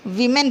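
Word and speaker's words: women: इसलिए हम यहाँ पर क्या करते हैं, इसको वीमेन पढ़ते हैं। समझ में आ गया आप लोगों को? जो फ़र्क आता है इंग्लिश के पढ़ने में, स्पेलिंग हालांकि WO है, लेकिन हम पढ़ेंगे कैसे इसको, वी मेन।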